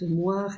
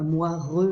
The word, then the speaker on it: moire: un E muet, comme moire ou mémoire, un E qu'on prononce pas, on ne dit pas moireux, mémoireux, il y a un E muet.